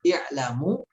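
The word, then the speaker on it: اعْلَمُوا: Seperti kata i'lamu di sini, ini dinamakan hamzah wasol yang dibaca di awal kalimat, ya. Dan untuk cara bacanya ada 3 macam, ya. Ada bisa dibaca dengan i'lamu, ya.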